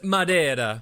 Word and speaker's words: Madeira: And it's pronounced Madeira. Oh, go down to the harbor if you want to gargle the Spanish so much. Portuguese, Mary. It's Portuguese from the subtropical archipelago of Madeira, which, spoiler alert, is in the name.